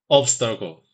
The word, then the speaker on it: obstacle: The first syllable is ob, like an object, not ob as in all. Try again, focusing on ob instead of all. Obstacle.